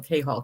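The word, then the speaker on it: Cahall: I I did want I think I just said K's name wrong so let me say that in case I did but it's kall c a h a l l kall Kenny kall um I don't know I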